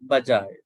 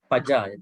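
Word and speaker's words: pajāya: Not Bajaya. This is wrong. Pajaya. P. Pajaya. Yes.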